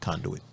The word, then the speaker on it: conduit: That's my 3-syllable words. That's 3 syllables, right? Conduit.